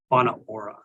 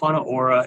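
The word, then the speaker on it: Whānau Ora: That word on the top there is pronounced Whana Ora. It looks like Wanatahi, but it's Whana Ora.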